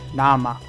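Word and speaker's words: 生: When it's by itself, it's pronounced nama, and it means pure, raw, crude, or undiluted.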